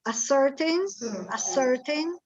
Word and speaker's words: ascertain: To ascertain, allora la SC non hanno suono, cioè hanno suono sh, però è scritto con la SH. SC si legge s, ascertain whether there is a correlation between taking the drug and death.